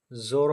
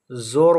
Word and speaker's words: ज़ोर: ज़ोर वाव मजहूल है।